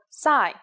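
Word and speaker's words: ψ: it in English called PSI there is no corresponding sound in English it makes up s sound like P and S said at the same time here's the uppercase C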